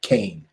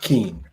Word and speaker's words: Kean: Somebody always emails me, and her name is spelled Kean, but somehow she pronounces it Kane, right? Not Keen. Okay, I'll pronounce it whatever way the lady wants me to.